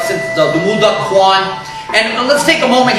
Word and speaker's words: Kwan: And again, those individuals study arts, again, from like the Muda Kwan.